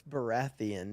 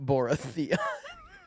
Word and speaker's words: Baratheon: It's Baratheon, not Boratheon. Just look at the way it's spelled.